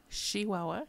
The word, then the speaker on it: Chihuahua: Chihuahua, a true person from Chihuahua pronounces it with an SH, not a CH.